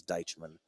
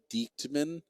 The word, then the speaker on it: Deichmann: Is that syllable in there? Deitch. Deitch. Man. Yeah, Deichmann. And that's a Revo, because, I mean, I hear a lot of Diechtman.